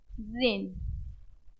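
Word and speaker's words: reign: रेन। यहां पे भी जी साइलेंट है तो क्या हो जाएगा ये?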